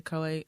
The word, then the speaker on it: Choate: Choate? Coate. Coate? I would say Coate.